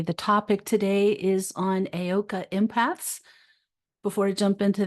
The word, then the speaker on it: Heyoka: you want to look this up, but it's pronounced Heyoka.